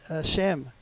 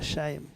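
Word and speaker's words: Sain: Rob as and Peter sham sham I'm sorry he told me how to pronounce his name s a i n that's Peter shame and uh it was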